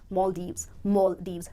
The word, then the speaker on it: Maldives: मेरे को Maldives जाना है, you rather pronounce it as Maldives. दो syllables हैं, इस word को आप जब break करोगे तो दो part पे break करोगे, पहला syllable है mall और दूसरा है Deves, जिसमें जो stress आएगा वो पहले syllable पर आएगा, पहले syllable को आपको